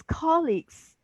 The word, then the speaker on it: colleagues: I was saying colleagues, colleagues. It's colleagues. Yeah. So I have had to get my brain hear the right stress.